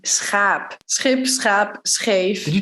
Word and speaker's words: schaap: So think of ship, which would be schip. Or sheep, which would be schaap.